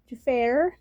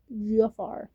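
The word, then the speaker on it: Jaafar: My name is not Jair or I've heard Defeater and No, it's pronounced as Gafar just like in Aladdin.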